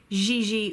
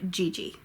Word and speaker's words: Gigi: Gee Gee Gee and an English you can either say Gigi or Gigi and now we're finally